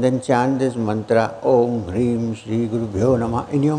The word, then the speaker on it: Hreem: forget it and you know exactly how to pronounce it. Shall we? Om. Hreem. H-R-E-E-M.